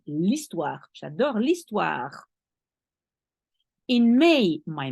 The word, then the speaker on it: l'histoire: J'adore l'histoire. You link the L to the histoire because the H doesn't count, so you link the L to the E. L'histoire.